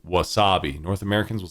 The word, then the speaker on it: wasabi: to learn is that Japanese is a mora time language it's not a stress time language so what that means is they try and have each syllable be the same in length that it's spoken so English there's an emphasis on things we'll say opportunity or a good word is wasabi wasabi wasabi as opposed to Wasabi North Americans will